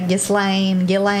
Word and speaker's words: Ghislaine: Yeah, I've heard it say Ghislaine.